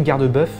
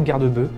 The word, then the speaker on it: garde-bœuf: Alors voilà, moi je prononce héron garde-bœuf, maintenant je sais qu'il y en a qui ne prononcent pas le F, qui disent héron garde-bœuf, donc voilà, peut-être qu'il